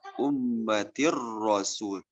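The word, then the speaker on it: أُمَّةٍ رَّسُولٌ: Selanjutnya ketika tanwin, bunyinya awal tulisannya adalah ummatin rasulun, dibaca ummatir rasul.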